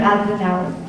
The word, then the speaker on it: Oudenaren: Oudenaren, please. If I pronounced correctly your name, I apologize.